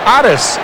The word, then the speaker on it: Otis: balls and two strikes otis nixon is known as addis nixon in his hometown of evergreen north carolina that is the way his father's name is pronounced his parents artists and